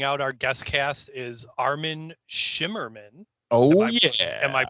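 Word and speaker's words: Armin Shimerman: 100 and rounding out our guest cast is armin shimmerman oh yeah am i pronouncing that right you are indeed sir okay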